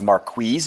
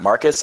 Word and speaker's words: Marquise: last night I think they introduced Bolden as Marquise Bolden and not Marcus.